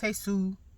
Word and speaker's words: Jesus: He has repeatedly corrected them, said that his name is Jesus. It's pronounced Jesus.